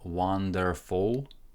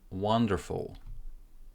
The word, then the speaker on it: wonderful: Stress goes onto the first syllable, and there is no E here, and there is no U. I'm not saying wonderful, I'm saying wonderful. Stress in the first syllable. Wonderful. Wonderful. It feels like there is a sound between F and L, but this is because F is aspirated sound. So you breathe out a little bit of air.